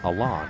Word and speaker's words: Alan: We've been saying Allan all year, but it is apparently Alain.